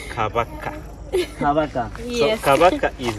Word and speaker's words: Kabaka: I would like to make a simple correction on the Sure. pronunciation. Yeah, You said Kabaka. yeah, So it is Kabaka.